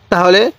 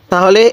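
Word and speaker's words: ت: নকশাগুলো আয়ত্ত করতে হবে তাহলে এই হরফটির নাম কি আলিফ এটার নাম বা এই হরফের নাম তা এই হরফের নাম ছা জিহ্বার আগাটা উপরে মালির দাঁতের সাথে লাগিয়ে দিব তাহলে তাটা সহি উচ্চারণ হবে আর ছাটা একটু নরম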